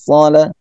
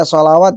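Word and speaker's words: الصلاة: Yu'minuna bil ghaibi tidak bila atau bil ghaibi wa yuqimunas shalah. Ketemu lagi sad wa yuqimunas shalah. Nah, di sini bukan dibaca sholawat ya, teman-teman.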